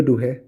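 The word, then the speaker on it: Douhet: Name the book of Julio डूहे देखिए डी ओ यू एच ई टी डूहेट बोलते हैं लेकिन एक्चुअली प्रोनाउंसिएशन डू है होता है।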